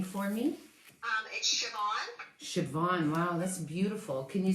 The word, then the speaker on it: Siobhan: are you i'm good thank you can you pronounce your name for me um siobhan wow that's beautiful can you spell it for